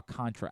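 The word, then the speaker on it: Alcántara: Is it Alcantara or Alcantra? I think Alcantra. It's Alcantra. Alcantra. Feel like we do talk about Yeah, we talk about No, it is Alcantra.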